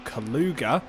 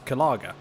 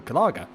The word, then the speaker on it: Gallagher: stephen martinez gets past michael kaluga uh sorry that is um apologies that's kalaga again the pronunciation was slightly wrong there so i do apologize michael gallagher in the number 82